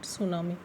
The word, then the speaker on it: tsunami: T is silent, so we will call it tsunami.